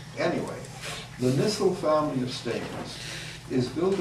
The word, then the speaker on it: Nissl: of their name so nissle is spelled n i SS L sort of anti-intuitive I guess you should